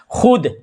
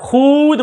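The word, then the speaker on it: خود: और मिसाल ले लें खुद क्या बोलते हैं आप खुद बोलते हैं खुद बोलते हैं ना खुद तो अब देखिए खुद में खुद में जो वाव है ना ये वाव लिखा जा रहा है बट पढ़ा नहीं जा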